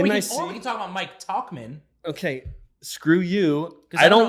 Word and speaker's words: Tauchman: Let's talk about Mike Trouchman for a second, though. Yeah, or we can talk about Mike Tauchman.